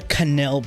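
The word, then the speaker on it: Knell: two it is the canel Prime that's exactly how you pronounce it if anybody tells you otherwise they're wrong it is pronounced canel yes because there's a k clearly I know what I'm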